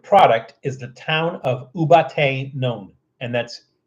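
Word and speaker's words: Ubaté: u a t and that's e with an accent on it so you know which syllable to accentuate ubat as opposed to ubate it's ubate a little Accent on there u a t e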